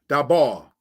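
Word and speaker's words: דָּבָר: Now, speak is dabar.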